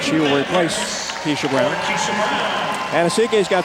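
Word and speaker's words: Anosike: Yeah, and it's funny because in Tennessee, she's Anasike. She makes it to the WNBA and she becomes Anasike. And they said, well, you know, changing the pronunciation, but she said all along, I'm from Staten Island, pronounce it Anasike.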